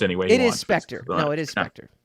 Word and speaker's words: Spectre: spectra so he can he can claim it's pronounced anyway it is spectre no it is an actor it's not spectacular yeah but you can say spectra okay you can it's it's it's a tomato